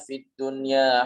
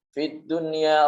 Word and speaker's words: fiddunya: bertemu dengan huruf yang bagaimana kita membacanya bukan aduh ia pegang tapi fiddun ya Fit dunia Rabbana Atina Fiddunya Hasanah disini bukan dibaca itu Homeland kan harus dijelaskan nun sukun nya dijelaskan fiddun ya Ada n-nya